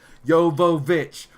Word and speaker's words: Jovovich: filming of that, where she was saying her name wrong, and she was like, "Jovovich, what is the problem?